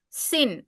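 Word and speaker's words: שׂ: If it is in left hand side it is pronounced as sin and it is considered as two different letters.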